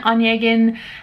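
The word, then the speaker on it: Onegin: the title is evgenian in english it's pronounced as eugene onyegan and uh it's a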